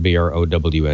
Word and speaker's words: Braun: And if you search for him on YouTube, you spell his last name Braun, like the razor, B-R-A-U-N, not B-R-O-W-N. It's pronounced Brown, spelled Braun.